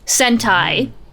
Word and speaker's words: Sentai: I love Sentai um Sentai not the other thing that rhymes with send time don't even worry about